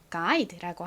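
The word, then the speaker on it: guide: 다음 자음은 d가 왔네요 d는 디귿 소리 듣 소리가 나죠 자 그리고이 단어에도 역시나 떨거지로 자주 따라오는이가 끝에 딱 붙어 있어요 하지만 얘는 별다른 소리는 나지 않죠 그래서이 단어를 읽어보면 가이드가 됩니다 패키지 여행을 갔을 때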